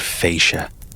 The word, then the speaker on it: fascia: His inflection, his cadence, the way he said fascia like it has three syllables.